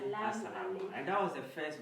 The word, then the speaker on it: Assalamu alaikum: We pronounce this as Assalamu alaikum.